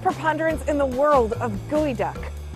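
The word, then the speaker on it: geoduck: and the largest preponderance in the world of gooey duck it's enough just to say it right you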